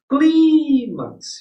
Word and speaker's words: clímax: Porque ela colocou clímax. Gente, ó, a sílaba tônica aqui, qual foi? Clímax. Para ser oxítona, gente, a sílaba tônica teria que ser essa, a última, né?